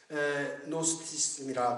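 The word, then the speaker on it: Gnosticism: 예, 노스티즘이라 그러는데 노스티즘은 안다는 뜻이죠. knowledge라는 그런 뜻이죠. 그래서 GNO 그노스티인데 그 자는 G자를 발음을 안 하거든요. 그래 어떤 사람들 그노스티스 그런데 노스티스 이렇게 이야기하는 거죠.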